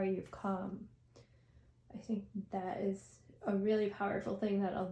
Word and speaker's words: Isa: That is a gorgeous card. That is a pretty card. Yeah, and so it's actually got like ice in it. It's pronounced Isa. So my niece's name, Isa.